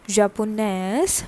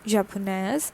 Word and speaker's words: japonaise: Okay, Japonaise for femina with an extra E and the pronunciation of the S.